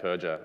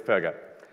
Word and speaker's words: Perger: at roll call and they called out purger and I got really really intensely sad because I'd never heard my name mispronounced before as I was only four and I cried and that was day one but it's perer so uh on the